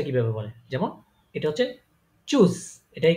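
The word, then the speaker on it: Tschüss: মুখ ইয়ে করে মুখটাকে গোল গোল করে তারপর উচ্চারণ করবেন ঠিক আছে তো এটা হচ্ছে কি চুজ চুজ চুজ চুজ মানে কি বিদায় ঠিক আছে এটা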